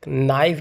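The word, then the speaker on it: knife: देखिए नाइफ में हमारा यहाँ पर के साइलेंट है, ऑनेस्ट में एच साइलेंट है, एप्पल में कोई भी साइलेंट नहीं है, और डाउट में हमारे यहाँ पर बी साइलेंट है।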